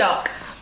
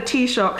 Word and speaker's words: Taoiseach: president, or only thought had how do you pronounce it? Taoiseach. He only thought it had a Taoiseach, not a president.